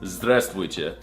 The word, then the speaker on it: здравствуйте: It's здравствуйте.